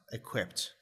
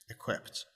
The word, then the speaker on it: equipped: a normal Ed uh here it's pronounced like a t sound equipped equipped the reason for that